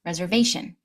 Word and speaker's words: reservation: Notice there's no shun. Shun. Just reservation.